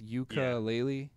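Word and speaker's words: Yooka-Laylee: page for it it's it's ukulele spelled as it sounds spelled in the way that you wouldn't want to spell it but yeah y-o-o-k-a-l-a-y-l-e so Yuka is the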